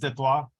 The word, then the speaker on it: Detroit: I was born in Detroit, which is properly pronounced Detroit.